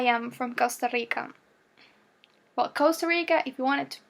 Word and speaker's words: Costa Rica: Or, as Costa Ricans pronounce it, it's Costa Rica. Yeah, because it's a different R. It's not American, it's not Latin American, it's Costa Rican R.